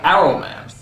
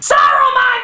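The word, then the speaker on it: Saruman: film though is for some reason they stop pronouncing the S and simply call him aroman why is the S suddenly a bad word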